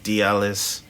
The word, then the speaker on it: D Dot Elles: but um so like my name used to be dialys the dot silent but you do spell it so it's l e d-d-o-t-e-l-l-e-s so my band camp